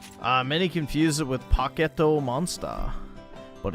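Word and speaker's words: ポケットモンスター: You got to pronounce it like a Japanese person. They pronounced it a pocketto monster.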